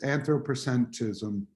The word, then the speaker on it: anthropocentrism: The first one, I'm going to butcher the word, but anthropocentrism, is that how you say it? Yeah, so this comes from the notion of the Anthropocene, but yes, anthropocentrism.